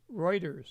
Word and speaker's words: Reuters: It's pronounced Reuters.